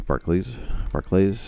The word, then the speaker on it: Barclays: Is it Barclay or is it Barclay? I've always thought it was Barclay. I think it's Barclays. Any Brits in the chat want to clarify the pronunciation of Barclays?